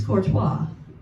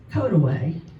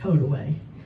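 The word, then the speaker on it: Courtois: You think it's Corttois, but it's Kotaway. Don't ask me why. That's just the name of it. Code away.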